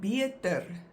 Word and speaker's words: beter: Then we have beter, beter, which is better. And there the first one is pronounced like a tweeklank, like the double E, beer. And then the second one is pronounced like a, beter.